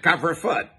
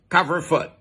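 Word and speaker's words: couvre-feu: curfew ours the french used to call it cover foot you know does he beat your pronunciation but it's fairly close to the french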